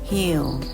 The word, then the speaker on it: he'll: คำ แรก เรา มา เริ่ม ที่ คำ ว่า Hill ซึ่ง เป็น การ รวม คำ ของ คำ ว่า